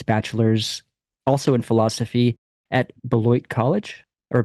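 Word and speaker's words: Beloit: he got his bachelor's also in philosophy at belloit college or belois what's the pronunciation here Belo beloy okay gotcha yeah his area of specialization is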